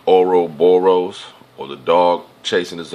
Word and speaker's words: Ouroboros: Okay, that's why it's Ouroboros, like oro, like gold. The pronunciation sounds the same.